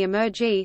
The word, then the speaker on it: emergy: Ulgiati published their formulation of a quantitative sustainability index SI as a ratio of the Emergy spelled with an M, i.e., embodied energy, not simply energy.